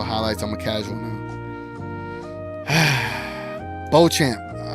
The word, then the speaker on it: Beauchamp: Beauchamp.